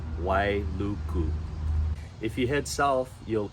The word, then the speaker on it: Wailuku: right on the west my mountains and it's pronounced Wailuku if you head south you'll end up in